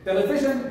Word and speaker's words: television: Television TV television okay television is a word having four syllables stress on the first one television television excellent the